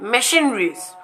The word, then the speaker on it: machineries: In chimpanzee, CH is pronounced as sha, as well as in chef and machineries.